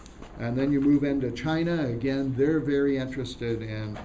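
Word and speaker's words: Qin: then you move into China again they're very interested in organizing and bringing together their country uh the emperor kin which is pron pronounced chin and that's where the word China comes from he involved the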